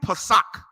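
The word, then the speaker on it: פסח: You want to know how you say it in Hebrew? Pesach, which means Passover.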